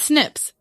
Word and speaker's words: Snips: apologize for mispronouncing Snips we were calling them SN PS or something but it's Snips a wonderful Source who